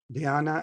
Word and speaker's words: Dhyana: Dhyana and Samadhi.